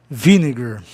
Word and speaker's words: vinegar: Vine, vogal consoante é, vinegar. Veja só. Vinegar. A palavra termina em vogal consoante, é proparoxítona.